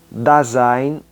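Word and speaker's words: Dasein: embora ele seja tão importante quanto fenomenologia também Design da s e i n se escreve da Zen que é ser aí é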